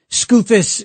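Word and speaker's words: Skoufis: Scufus conveniently rhymes with doofus.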